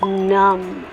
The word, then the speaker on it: numb: Winnie, I think you mean that it's numb. Numb. Numb. You don't need to say the B. The B is silent.